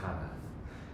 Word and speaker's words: Cana: Everywhere else, it's a hard C. So like wedding at Cana, for instance, Kana.